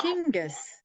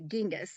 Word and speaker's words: Chinggis: We had westernized it, and we couldn't say the word, so the pronunciation, so we changed it to Genghis.